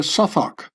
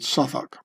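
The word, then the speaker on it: Southwark: you get to uh Suffach or Southwalk as Americans would pronounce it and I would too maybe. I don't know why they the London Londoners pronounce it suffoc.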